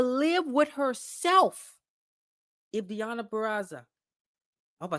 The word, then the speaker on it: Purrazzo: Becky Lynch, she won't be able to live with herself if Deonna Purrazzo I hope I said that right. Purrazzo.